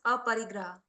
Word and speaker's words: Aparigraha: अपरिग्रह, So how do we pronounce it? Aparigraha.